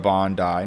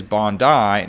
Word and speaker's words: Bondi: And yes, the pronunciation is Bondi, not Bondi. It's named after Bondi Beach in Australia with the spirit and styling of the shoe apparently taking influence from the beach and its surf culture.